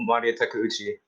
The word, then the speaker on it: Maria Takeuchi: I keep talking about Maria Takeuchi.